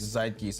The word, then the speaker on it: Zeitgeist: Zeitgeist. How do you spell that? Zeitgeist, Zeitgeist, which is a German word, and it's something to do with like time.